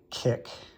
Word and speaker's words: kIQ: to talk about today, which is the Kala Kick uh device, which is this watch like thing right here. And um kick is spelled C IQ and it comes in with